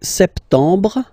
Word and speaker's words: septembre: So, septembre, septembre, septembre. Remember this E-M en septembre. Br, br. You don't insist on the final E.